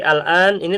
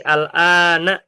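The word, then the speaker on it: الآنَ: Jadi Al-An ini termasuk apa, Pak? Alan Alan keterangan waktu keterangan waktu. Naam. Alan ini selalu fathah ya, Teman-teman ya. Jadi alana bacanya enggak mungkin dibaca alani atau alanu abadan.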